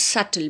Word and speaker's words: subtle: Children, you have to pronounce this word as subtle. B is silent here. very very subtle means very soft, it's delicate.